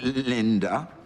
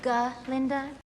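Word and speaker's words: Glinda: Linda. Actually, it's G. Linda with a G.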